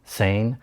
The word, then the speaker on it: SANE: We pronounce the acronym sane.